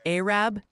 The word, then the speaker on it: Arab: They're gently reminding you it's pronounced Maryville. Really hit that Mary in Tennessee. And Arab down in Alabama.